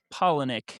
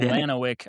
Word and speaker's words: Palahniuk: He tweeted, "It's pronounced pollenic." You said it right. Nope. I said Polanoic. I said it super wrong.